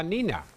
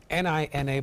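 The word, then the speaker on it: Niña: So it's spelled N-I-N-A, but there's a Y in it.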